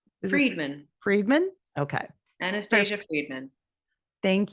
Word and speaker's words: Friedman: name too I want to make sure I pronounce right Friedman Friedman okay Anastasia Friedman thank you all right